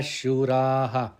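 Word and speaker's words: शूराः: Shuraha, it has to be pronounced Shuraha because it is appearing at the end of the pada.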